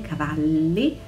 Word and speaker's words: Cavalli: i park sun moschino roberto cavalli doppia elle cavalli missoni doppia s missoni